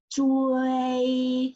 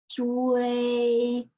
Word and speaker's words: 追: Remember when you pronounce the ZH, the shape of your mouth must be like this. Okay, can you see it? Okay, let's practice this ZHUI. 追, yes, correct. 追, which means chase.